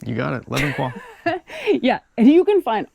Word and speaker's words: Le Bon Coin: Le Bon Coin.